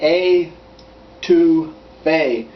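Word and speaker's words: étouffée: with you all right that crawfish A2 f is I I can't even pronounce it sometimes and it's nothing like it's spelled it it it sounds like a to Fay and it's really it's spelled totally different and I'll put that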